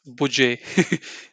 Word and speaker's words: Budget: It's not budget, it's budget.